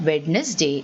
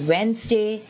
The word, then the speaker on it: Wednesday: Many of us say Wednesday, but it is not Wednesday, it is Wednesday.